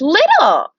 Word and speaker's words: little: This is the word little. So only this second T is silent and this E is silent. So we pronounce only those three letters that aren't underlined.